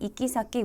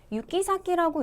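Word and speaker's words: 行き先: 자, 우리 호호코쿠스루는 보고하다라는 뜻이고 그리고 여기에는 이키사키 우리말의 행선지란 뜻이죠. 그리고 이키사키 같은 경우는 발음했을 때 이키사키라고 읽어도 되지만 유키사키라고 읽어도 상관없습니다. 발음은 둘 다 가능해요.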